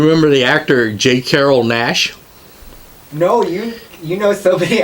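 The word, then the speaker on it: Naish: Jesus yeah he says people always mispronouncing my name he says they did I see me in these movies and they think my name is not J Carroll Nash but mr. J Carroll nice sheep back in the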